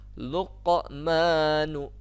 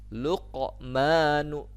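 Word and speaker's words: لقمان: Ada di situ kan qaf yang matinya ya, huruf qaf hurufnya. Luqmanu. Nah, di situ ada pantulan tapi tidak terlalu kuat ya kalau di tengah kalimat itu. Luqmanu.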